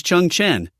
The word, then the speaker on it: Cheng Chen: the air and undercurrent surging my name is Chun Chan beggar is into beg Chen Chan remains calm